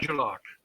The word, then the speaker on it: Jalak: Jalak. Okay, actually, the J is a J.